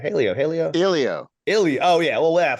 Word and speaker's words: Helio: And it's more of an Ilio. E than an A sound, like an Ilio. And then the H is silent, right? Right.